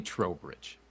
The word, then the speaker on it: Trowbridge: If they asked me like checking in at an airport, it would be Trowbridge.